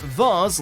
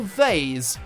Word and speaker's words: vase: can pronounce this word whether it said vars like mars or vase like haze gen but being honest